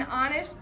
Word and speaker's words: honest: In honest, the H is silent.